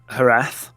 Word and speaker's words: Jerez: what's happening uh so that has its own series which is a herath um which is spelled jerez um it's the bookkicker